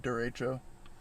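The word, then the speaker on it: derecho: before i'm pronouncing it also how google now pronounced it i could be wrong but it said duratro because it's a type of like windstorm i'm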